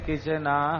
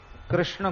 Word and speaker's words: कृष्ण: आपका ऐसे नहीं चलेगा कृष्ण को कृष्णा कह दो यह मंत्र में नहीं चलेगा राम को रामो बोल